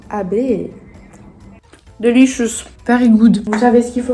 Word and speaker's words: abeille: Ah, on prononce abeille.